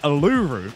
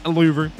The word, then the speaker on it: Uluru: But anyway, we are here today at Uluru in Australia. I think that's how you pronounce it. But yes, Uluru.